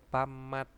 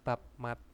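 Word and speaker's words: 밥맛: Pamat, bukan babmat tapi pamat, itu adalah rasa nasi atau rasa.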